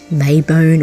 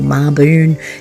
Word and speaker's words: Mabon: a little cooler Sabbat Marvin May bone or marbone depending on where you are and how you say it it's it's quinox